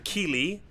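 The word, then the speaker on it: Kíli: Key is for Keely.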